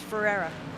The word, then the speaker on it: Ferreira: Is it Fiera or Ferreira? Oh no, the R's are in the middle, so it's Ferreira.